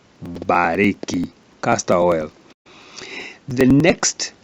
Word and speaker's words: Mbarĩki: like in the word bariki, castor oil, bariki. When a Kikuyu speaks, you may hear as if it's a plain B, but when it's written, it has to have the M, bariki, castor oil.